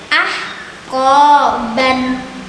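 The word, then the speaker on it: أَحْقَابًا: Contoh terakhir pada bacaan ahqoban. Itu sudah jelas juga ini mad iwad karena fathah tanwin, setelahnya alif dan ada wakof. Berarti bacanya adalah ahqoba.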